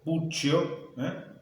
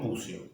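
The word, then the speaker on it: Puccio: un rosarino Nicolás bucio nosotros en Rosario pronunciamos Así bucio es con doble c Así que podría ser pupcio o buccio pero en Rosario decimos buzios es una zona muy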